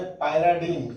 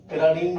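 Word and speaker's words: pyridine: और बताएं, पायराडीन। कौन बोलो? पिराडीन भी लोग पढ़ते हैं इसको, पायराडीन भी, जैसा भी आपको प्रोनाउंस करना हो।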